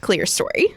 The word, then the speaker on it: Clerestory: in fast conversations sometimes I say it the clear story um so it is the clear story correct it is pronounced clear story okay and so you actually work under Shelley